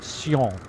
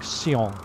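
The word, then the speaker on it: Sion: the airport i believe the pronunciation is something like seong which is s-i-o-n very good i think it's pronounced something like seong and uh yeah and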